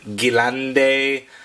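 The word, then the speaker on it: Gelände: RC four-wheel drive now there's different pronunciations of course I've heard Galante and various other versions of his so I'm gonna refer to it as the Jalan day that's just what I'm calling it but so be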